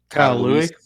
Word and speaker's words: Louis: Do you know how to pronounce his last name? It's Kyle Louis. Louis, first team linebacker consensus.